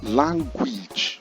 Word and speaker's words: language: Pronounce again language, and not language, but language. Remember, when it ends with age suffix, it is pronounced each.